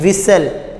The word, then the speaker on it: whistle: इसी तरह हम कहते हैं विसल, अब विसल में क्या है, WHISTLE, तो उसमें टी की आवाज़ हमारे सामने नहीं आती।